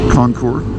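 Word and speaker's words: Concours: ten years old at the time it's 2003 Concord there's no s on the end although there is Ness you just don't pronounce it take note you do not pronounce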